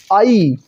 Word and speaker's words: ऐ: ए को ए मत कहिए, आई कहिए।